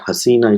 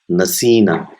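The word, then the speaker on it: نسينا: So it's not hasina, it is nasina.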